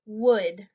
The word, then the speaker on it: would: You don't really say the L sound. So you say wood. Like your door or your house or a desk is made of wood. It's the same pronunciation.